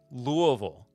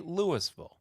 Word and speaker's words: Louisville: oh cool it's like how we say Louisville louville I say Louisville some people say Louisville other people say Lewisville louville yeah and the best